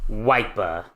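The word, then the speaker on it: Wyper: him before remember mhm oh yeah sandan Warrior wiper yes you pronounced that right his name is wiper I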